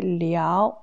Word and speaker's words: 了: La deuxième prononciation de ce caractère le, c'est liao, liao, deuxième ton.Ici, ça veut dire c'est